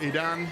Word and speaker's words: Aiden: You can pronounce it Aidan. That's how it's officially pronounced, but the folks here call it Aiden.